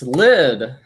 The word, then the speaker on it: Lyd: You just need to say Lid and we know who you are. Yeah, just Lid. Yeah, you don't need any other details. It's just one syllable, like Drake.